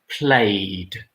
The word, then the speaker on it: played: Number 1 is played. It's not played, it's played. Usually with the simple past, when we add ed, you don't pronounce the extra e here.